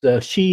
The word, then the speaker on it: Sidhe: It's she is spelled Sidhe.